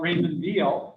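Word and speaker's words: Raymond Weil: than others for example if i talk about raymond veal it's pronounced with a b even though it's spelled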